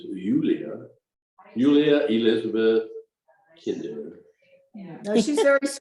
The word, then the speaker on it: Julia: Her name is what English speakers would say Julia, but in German it's Julia.